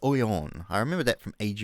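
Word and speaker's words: Noyon: le haber oleon oriens it's actually it's oyon i remember that from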